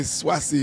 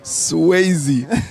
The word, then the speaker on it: Swayze: Mario's always say Swassy. And she's like, you know, Mario, it's Gilda Swayze.